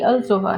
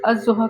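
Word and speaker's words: الضحى: फी अलजोहा बिल्कुल सही लेकिन हम लोग ऑलरेडी इसके लाम को साइलेंट कर चुके हैं बिकॉज़ अजहा कहना इजी है अलजहा कहना थोड़ा मुश्किल है आप ही ना बोले है है ना तो ये अजहा होगा ठीक है अच्छा फिर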